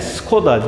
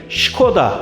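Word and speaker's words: Škoda: tarih de bu arada bizim dilimiz Skoda alışmış ama çek dilinde Skoda değil Şişko da olarak okunuyor bizim gibi onlar da s harfinin üzerine işaret koyarak şey yapmışlar ama işareti altına değil de üstüne koydukları için bize şey gibi geliyor tabi İnternet ortamında da Skoda olarak yazıldığı için biz de öyle okunuyor zannediyoruz Neyse biz alıştığımız gibi Skoda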